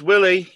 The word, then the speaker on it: Wiley: Wiley. So, Willie. It's Willie.